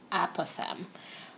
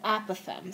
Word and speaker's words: apothem: perpendicular to other side and that's called the apothem I'm not sure if I'm pronouncing it right but it's spelled a p